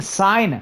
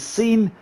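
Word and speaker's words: Cine: pronouncing Lewis scene wrong I kept saying sign because it's like mine but with a c so makes sense right lose sign this one put that in the comments below it's Louis scene like movie scenes so thanks for that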